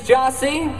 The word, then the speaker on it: Gyasi: the drum set my name is jossie we are also collectively known as jossie it's spelled g-y-a-s-i we're gonna do one